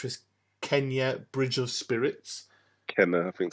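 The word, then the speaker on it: Kena: I was calling it Keena, but then I Kenya. heard them in the trailer. They were saying Kenna, and it's like, okay, cool. That's how you say it.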